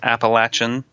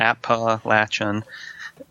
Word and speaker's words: Appalachian: up at Akitas it's the pronunciation the correct one that we claim is the correct one is appalachian state mention oh yeah an Appalachian a lot of people not from around here say Appalachian and that's how we distinguish